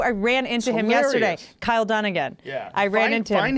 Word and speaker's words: Kyle Dunnigan: it before you play it this is so Kyle Dunning how do you say his name down again Kyle Dunnigan did a face swap with Kim Kardashian and